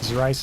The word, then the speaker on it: Zerice: Zerice is pronounced with a Z.